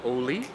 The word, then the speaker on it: Ole: and it is pronounced oli it's based on a swedish name the founder's grandfather's name my role is i